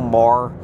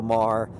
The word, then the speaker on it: Maher: My sister and her husband are huge fans of Bill Maher. I think that's how you pronounce M-A-H-R.